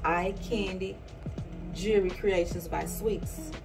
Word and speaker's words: EyeQandy: It's called EyeQandy Jewelry Creations by Sweetz. EyeQandy, Candy being spelled with a Q.